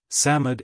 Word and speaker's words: Psammead: that it was a Samad or sand fairy Samad is pronounced Samad it was old old